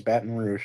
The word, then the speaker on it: Baton Rouge: you I think you finally pronounced it right it's Baton Rouge Baton Rouge whatever yeah